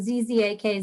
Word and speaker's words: Zzak: And everybody gets confused because it's two Z's, so they're never sure how to pronounce it. Z-Z-A-K, Zzak G.